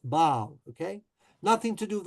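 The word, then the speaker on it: Basle: So I assume in German it's spelled Basel, and in French it's B-A-S-L-E, and it's pronounced Baal, okay?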